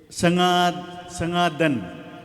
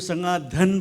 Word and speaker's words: संगादन: और प्रोनाउंसिएशन को जैसे प्रोनाउंसिएशन जैसे संगादन, ठीक है, आप उसको संगाधन बोल रहा था। ध्यान रखिएगा जब प्रोनाउंस करते हैं संगादन, संगा धन नहीं है, हाँ।